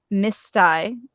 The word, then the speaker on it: Mystai: So I'm with Chris Lyon of, and I say Mystai.